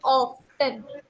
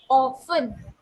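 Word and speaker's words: often: ओ एफ टी N this not ऑफ्टन यहा पर N silent वहा पर टी साइलेंट होता है प्रोनाउंस टस ऑन okay O एफ टी ई N this is नॉट ऑफ्टन this is ऑन okay yes नाउ ऑन referred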